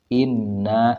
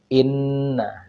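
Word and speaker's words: إِنَّ: cara membacanya kita praktikkan kita ambil contoh Inna nah di dalam Nun ini ada tasdid sehingga kita tahan dan tekan di ee huruf ini Inna didiamkan Inna Inna lalu kita ambil lagi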